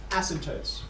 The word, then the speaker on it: asymptotes: you read that asymptotes there's a silent p right there in the middle asymptotes okay these are lines